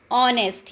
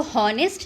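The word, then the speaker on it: honest: ऑनेस्ट, ये H silent है इसमें, ठीक है, इसको हॉनेस्ट नहीं बोलते, ऑनेस्ट बोलते हैं।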